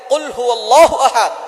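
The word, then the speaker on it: قُلْ هُوَ اللَّهُ أَحَدٌ: আল্লাহ পাক রাব্বুল আলামীন এখানে বলছেন কুলহু আল্লাহু আহাদ। এখানে কফ দিয়ে পড়ছেন কিন্তু অনেকেই ভুল করে উচ্চারণ সঠিক না হওয়ার কারণে তারা পড়ে কাফ।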